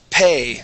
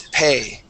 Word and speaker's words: pay: our next word is pay this is a long a sound okay you had said P okay the word is pay pay excellent one more